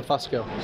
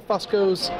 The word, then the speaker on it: Fusco: He actually changed our pronunciation to Fusco. Okay. And about half of the Fuscos in the United States apparently pronounce it how we do, and the other half pronounce it the proper Italian way.